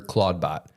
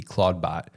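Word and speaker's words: Clawdbot: change the name because it's spelled C L A W D B O T Claudebot, which sounds a lot like Claude, which is Anthropics.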